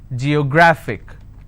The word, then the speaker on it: geographic: I have a word ending with IC I need to stress on the second last syllable so I'll pronounce this as Geographic if I have another